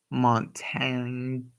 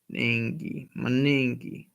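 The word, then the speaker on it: Monangai: Woody Marks, Marshawn Lloyd, Jordan James, Kyle Montangi. Yeah, that's how you say it. Montangi. Kyle Montangi. No, it's no T. Monangi. Kyle Monangi.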